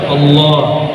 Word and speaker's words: Allah: Coba baca Allah. Allah. Yang benar bacanya Allah. Allah. Hak besarnya itu diberatkan.